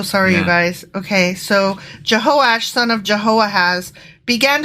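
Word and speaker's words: Jehoash: know what I have I apologize I mispronounced that it's jehosh jehosh but still jehoiah has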